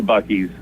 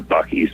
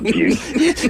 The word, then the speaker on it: Buc-ee's: these people know their Buc-ee's, man. They know it's not Busey.